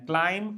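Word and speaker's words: climb: Checked जांच करना एंड क्लाइम क्लाइम्ड क्लाइम्ड। ध्यान देना यहां पे बी साइलेंट रहेगा। एम के बाद जब भी बी आता है तो बी is going to be silent.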